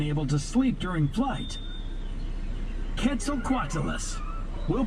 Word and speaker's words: Quetzalcoatlus: Quetzalcoatlus. We'll pronounce this one together. Ready? Quetzalcoatlus, a pterosaur that lived in North America.